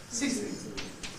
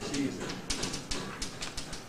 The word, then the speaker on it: ceasing: How's it pronounced? Ceasing. Like in teacher, the E is doubly clipped. What is S? Another syllable. Ceasing. Ceasing. What happens if you don't do enough of that clipping? Ceasing. Well, it doesn't sound right, but in particular, it's going to start sounding like cheesing.